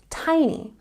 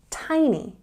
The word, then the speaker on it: tiny: say the apartment is Tiny and we have a stress on the first syllable here tiny tiny or very big we